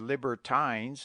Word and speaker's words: libertines: if written iron and Libertines as libertin many must be pronounced